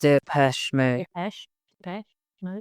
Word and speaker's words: Depeche Mode: Depeche, like past. Depeche Mode.